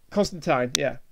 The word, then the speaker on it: Constantine: Constantine, yeah. Rhymes with wine.